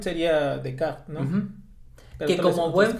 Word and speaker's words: Descartes: Ah, la pronunciación sería Descartes, ¿no?